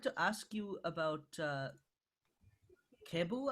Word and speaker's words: Kebu: ask you about uh cable i think is how you pronounce his name who's that a k-e-b-u um the oh yeah yeah cable is a keyboardist um